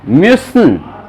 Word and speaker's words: Müssen: Rustam pronunciation सही नहीं आ रहा है म्यूसन Müssen.